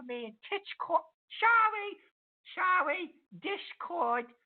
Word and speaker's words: Discord: and TT sorry sorry Discord it's not titch cord that was my fault